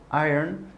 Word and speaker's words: iron: important donc mettez ça dans votre petite besace aïn ça veut dire repasser voilà ailleurs entraînez-vous à elle prononcée si vous avez des questions sur la